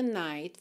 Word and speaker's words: night: To last, so when the night falls, aqui você percebe que a gente não escuta o t, né?